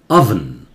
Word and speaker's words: oven: सुनिए अवन, ओ का उच्चारण कहीं कहीं आ होता है, जैसे onion, अवन, temperature of the oven